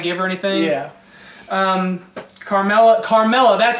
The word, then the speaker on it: Carmella: not going to give her anything yeah um carmella carmella that's how you say it I said